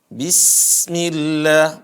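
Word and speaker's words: بسم الله: ya audzubillahiminasyaitonirojim basmalah bismillahirrohim pertama dia tipis kemudian suaranya dialirkan begitu juga napasnya dialirkan bismillah bukan bisa tapi gimana hadirin Bismillahirrahmanirrahim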